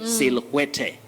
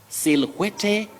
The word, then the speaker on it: silhouette: We don't say silhouette. Silhouette, no. Silhouette, no. This word, I know many people would, benefit from, the pronunciation that I would give them tonight. This word is simply pronounced as silhouette. Don't say silhouette. Silhouette, say silhouette. No.